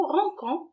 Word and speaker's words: rinçons: Sinon, on va la prononcer, nous rinçons, et ça ne se lit pas.